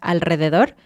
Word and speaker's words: alrededor: Entonces, por ejemplo, en la palabra alrededor, no pienses en la R, piensa en E. Piensa que tu meta es llegar a la E. Entonces, al re, piensa en la E, alrededor.